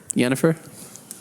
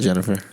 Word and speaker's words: Yennefer: Yennefer. It's not Jennifer. No, it's with a Y, actually.